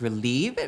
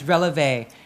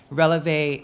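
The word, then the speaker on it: Relevé: When people actually first see the name, they think it's Relieve, which makes kind of sense because you're trying to relieve the environmental pressures. But it's Releve. Releve is a dance term,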